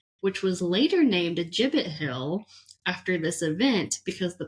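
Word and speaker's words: Gibbet Hill: look up the jibbit I looked up the pronouncing pronunciation and it's a jibit hill okay so I ended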